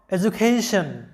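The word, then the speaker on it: education: দেখো, এডুকেশন, এখানে ডি এর আগে আছে ই এবং পরে আছে ইউ, অর্থাৎ ডি এর আগেও ভাওয়েল, পরেও ভাওয়েল, সে কারণে ডি এর উচ্চারণটা হচ্ছে জ এর মতো, এডুকেশন।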